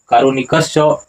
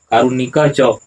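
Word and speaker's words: कारुणिकश्च: सच स्वभावात दानशील कारुणिक च कारुणिकस च उच्चारण नहीं कीजिएगा। उच्चारण क्या होगा? कारुणिक च और यह स्व का विसर्ग हो जाता है।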